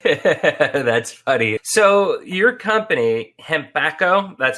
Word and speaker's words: Hempacco: bit of english that's funny so your company hembacho that's how you pronounce it right yes okay and becca why